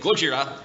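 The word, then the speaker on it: Gojira: wrong the entire panel I should be saying goira but I'm saying Godzilla because of reasons it's complicated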